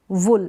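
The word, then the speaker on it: wool: में हो रहा है अब यहां पर यह है ना इसको वूल नहीं पढ़ेंगे वूल क्या पढ़ेंगे वूल मतलब उन वूल का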